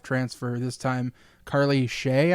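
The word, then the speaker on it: Seay: So anyways, the reason we're gushing about this is FGCU lands another Power 5 transfer, this time Carly Shea, I believe is how you pronounce the last name.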